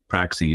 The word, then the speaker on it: Praxie: It comes from the Greek word praxis, but it's pronounced in some European language, Praxie.